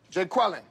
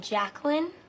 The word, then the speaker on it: Jacqueline: take a roll here Jay quellin we stay quellinet no Jay quella here yeah uh do you mean Jacqueline okay so that's how